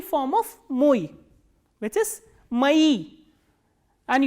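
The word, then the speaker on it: мои: And the next one we have the plural form of moi, which is mai. And you have to notice that this e is stressed, that is why o is pronounced as a.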